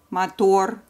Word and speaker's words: мотор: remember very quickly, and they are all ending on consonant R, and all of them have final syllable stress.